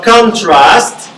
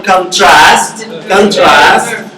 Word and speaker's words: contrast: So contrast, when you have the stress in the first syllable, it's a noun. And when you have the last syllable, contrast, you mean a verb.